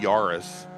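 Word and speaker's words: Yaris: is in the four-door Toyota yurus is that right that's right that that was close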